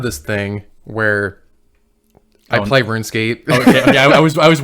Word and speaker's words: RuneScape: and at the time i thought it was called run escape because our friend brandon i was like is this how do you say this does this run escape and he's like yeah yeah it's runescape man yeah yeah he just